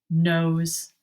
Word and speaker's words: nose: o t carrot for nose n o s e the tricky e makes the o say his name so instead of saying ah he says o nose carrot for nose all